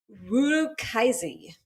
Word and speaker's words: Urukazi: I thought it was It is, Urakazi. but I think the U is pronounced WOO.